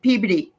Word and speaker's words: Peabody: because um you know that's but it's they pronounce it Peabody Peabody I live in Peabody yeah I know